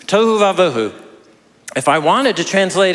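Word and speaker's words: תֹהוּ וָבֹהוּ: Uh the Hebrew phrase is to vauu. Yes, it rhymes.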